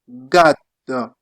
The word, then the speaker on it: gatto: Then you also have G in Italian like in gatto. Gatto. You drag your tongue since you have double T. Gatto.